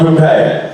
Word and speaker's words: poupée: Sort of a black brown, it'd be called poupée. Thank you. Yeah. Rhymes with your toupee.